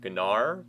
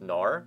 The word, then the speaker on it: Gnar: a look at Nar I was actually kind of hoping that they'd pronounced his name gar but the G is just silent it's apparently just Nar according to the Champion Spotlight his base stats